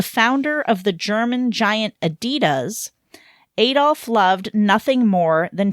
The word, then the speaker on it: Adidas: or false you know Adidas rolls off the tongue better when you say it like someone from the UK like have you ever